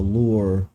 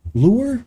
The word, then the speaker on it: lore: yes, while they are barely touching on the lore, lure, why do I always say lure? Lore. Always mispronounce lore as lore.